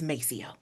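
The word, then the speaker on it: Maceo: us responding us pronouncing it the way we pronounce it. We're not going to say mo. It's it's Macio."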